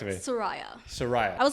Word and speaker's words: Sooraya: Is that how you pronounce the name? Close. Close. How do I do it? Please correct me. Sooraya.